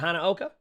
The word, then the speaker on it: Hanaoka: I forgot the pronunciation of that, but basically the Hanamura map, or Hanaoka? Is it Hanaoka? Well, to be a part of its debut. Hanaoka? Yeah, okay, that makes sense, like Hanamura, Hanaoka.